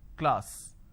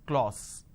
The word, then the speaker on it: class: sound r another example the word is class and the pronunciation is k le ah so class this is how the pronunciation is but people make a mistake they say or sir instead of saying class they end up pronouncing this as clause okay now why does